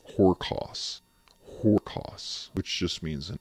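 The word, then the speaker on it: ὅρκος: The root word that comes from Greek is not spelled, but pronounced horkos.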